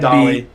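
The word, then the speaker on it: Dahle: I'm guessing it's pronounced Dale. It might be Dolly. I'm guessing Dale. Brian Dahmer. Just kidding. It's Dolly.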